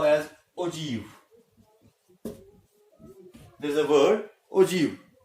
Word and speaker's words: ogive: the cumulative frequency, and that we call as ogive. There is a word ogive. It is pronounced as ogive, and actually it has been derived from a word og.